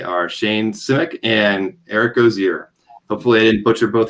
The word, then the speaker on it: Osier: It's pronounced Osier. Osier.